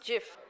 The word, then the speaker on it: GIF: pronounced yes anyone else is it uh it's pronounced gift it is pronounced gift by the makers the guy who made this he pronounces it gif but actually grammatically is pronounced Jif okay uh you can contact us if you